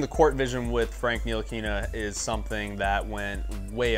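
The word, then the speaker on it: Ntilikina: Frank win streak, Ntilikinia. Let's do it. Ntilikinia. First man who ever pronounced his name right here.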